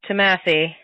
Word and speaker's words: Thomasse: Thank you so much to the wonderful sketch troupe, We Are Thomasse. Thank you so much. Did I pronounce that right?